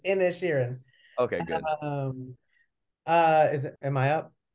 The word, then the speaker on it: Inisherin: It's Inisherin.